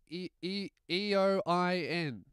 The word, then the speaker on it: Eoin: Hey, Lewis, my name is E-O-I-N. And then he put in brackets Owen. No, it's not. Your name's not Owen, mate. It's spelt E-O-I-N. Your name's Your name's fucking Eoin.